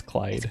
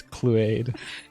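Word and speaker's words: Chluaid: you say the name it's spelled c-h-l-u-a-i-d but it's clyde clyde you always read it it's cleared i mean that's how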